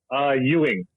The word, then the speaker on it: Ewing: So just think of Dallas or the basketball player, and you're good.